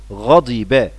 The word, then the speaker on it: غضب: غضب، كلمة غضب طبعا نخلي بالنا من نطقها بكسر حرف الضاد، غضب بمعنى سخط.